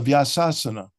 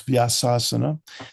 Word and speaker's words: Vyasasana: But, sadly, I heard about someone speaking during a Sunday feast lecture who sat on the Vyasasana. Oh. Mispronounced as Vyasasan, by the way. It's Vyasasana, the seat of Vyasa.